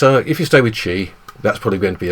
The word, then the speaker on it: Qi: are various standards uh the most common one is spelled Qi and it's pronounced Chi because apparently stes for